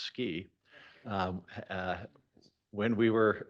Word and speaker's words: SCI: up with the acronym scientific Computing and imaging pronounced ski um uh when we